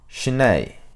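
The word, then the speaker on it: shiné: as shamata in tibetan it is called SHINee a word made up of two syllable she which means peace and tranquil or or tranquility and nay which means to abide or stay translated into English then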